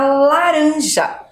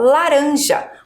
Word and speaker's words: laranja: pensar aqui, ó, na laranja. Falei com a professora, ó, laranja. O R tá fraco, ó, laranja. Ele está entre 2 vogais, mas a minha pronúncia, minha fala é de um R fraco.